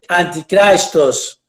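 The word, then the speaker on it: ἀντίχριστος: que es el anticristo es una palabra griega se pronuncia anticristos adversario de cristo contra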